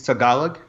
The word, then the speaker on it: Tagalog: It's Tagalog. Tagalog, okay. I never pronounce any of those things the right way.